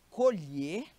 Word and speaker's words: colher: Vejamos bem, o verbo colher e acolher. Ó, o verbo colher, o O é fechado, e o substantivo, que é aquele artefato que você usa para botar comida na boca, é aberto.